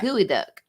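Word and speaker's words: geoduck: expensive it is okay so it's pronounced gooey duck okay i'm gonna try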